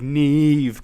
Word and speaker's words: Neve: It's like Neve Campbell or something like that. So, just don't give me shit. Nev Campbell, Neve Campbell. I thought I was saying it correctly the entire time.